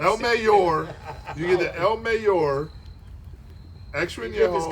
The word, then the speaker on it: El Mayor: It's El Mayor. Mayor. El Mayor. Come on, let's go. Burps. El Mayor. You get the El Mayor.